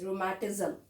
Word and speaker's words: rheumatism: This is how the poet has used, but actually the spelling is this, rheumatism. The word rheu rhymes with the kangaroo.